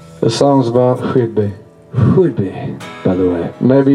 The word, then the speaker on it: Whidbey: Some people pronounce it Whidbey like a piece of wood, but actually, the locals will get very upset because it's actually Whidbey.